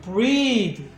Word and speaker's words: breath: 그러니까는 breathe, breathe 동사란 말이에요. 근데 여기서 이 단어가 온단 말이에요. 명사. 명사가 오면 이제 breathe라고 하는 게 아니라 breath, breath, breath 이런 식으로 바뀌어요.